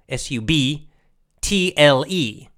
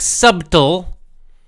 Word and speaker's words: subtle: has a B but we don't pronounce the B so it subtle is it's actually spelled subtle it's spelled su b su be like boy bah-bah-bah su b TL e TL e su b